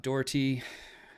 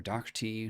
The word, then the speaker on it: Doherty: i'm most worried about doherty or dr t depending on how you say it because now uh we